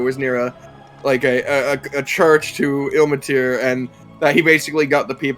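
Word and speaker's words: Ilmater: Ilmatir. Ilmatir, I thought it was Immatir.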